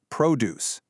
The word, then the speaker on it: produce: But if you're wandering around the grocery store buying fruits and vegetables, you are looking for the noun produce. Same root, same exact spelling, totally different stress.